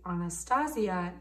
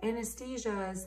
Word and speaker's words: Anastasia: when I mean like I correct them I mean like they'll say like oh anesthesia's appointment and I was like